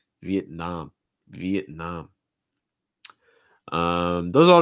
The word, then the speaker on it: Vietnam: get reduced thailand thailand vietnam vietnam stressed last syllable the nom and again you have that ah sound um vietnam awesome and